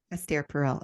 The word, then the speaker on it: Esther Perel: Esther Perel. Esther Perel.